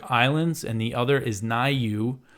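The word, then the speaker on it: Niue: and the other is nayu which I might be pronouncing wrong I meant to double check how to pronounce that it's spelled n-i-u-e so nayu is a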